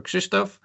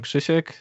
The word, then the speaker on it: Krzysztof: me is Kishek or Kristoff. Hi I'm Shishek. You can call me. It's the same name with just a Polish weird pronunciation.